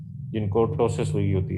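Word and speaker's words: ptosis: करते हैं तो अगर टोसिस हो, पी इसमें साइलेंट है, टोसिस नहीं है, टोसिस, टोसिस का मतलब होता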